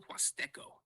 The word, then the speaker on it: Huasteco: Here's the breakdown. L equals like L in English. Was equals was because the H is silent in Spanish. Teco, the stress on the TE. So when you say it smoothly, El Huasteco.